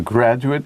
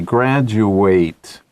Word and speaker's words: graduate: And then they graduate. Same word, different pronunciation. 破音字嘛. Yeah, right. Okay, so the verb ate, 字尾的字 is ate. Ate. But when it's used as a noun, ate 念 it.